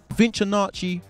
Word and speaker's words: VinchOnacci: VinchOnacci Project, am I saying it right? Yeah, you're saying it. Bang on.